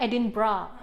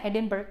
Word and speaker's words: Edinburgh: Nyebutnya Edinburgh. Edinburgh guys. pertama saya bilangnya Edinburgh. Iya sama. Kan kita membacanya normal pasti kayak Edinburgh gitu.